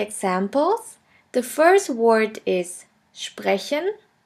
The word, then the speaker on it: sprechen: The next letter combination is SP, SP, ST, ST, which is pronounced like the letter combination SHP and SHT. Let's have a look at the examples. The first word is sprechen, sprechen, which means to speak,